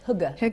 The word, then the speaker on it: hygge: How do you say that word? I think it's hugger.